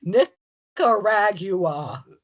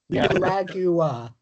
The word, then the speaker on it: Nicaragua: He has it as Nickaragua. Nicaragua.